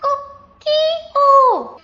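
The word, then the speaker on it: 꼬끼오: Kokyo. The first two syllables begin with g, right?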